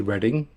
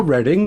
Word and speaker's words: Reading: Firefighter chick said, "Oh, how do you say Reading?" That's how you say it. And they've got a Reading over there in Pennsylvania, South Pennsylvania, Reading.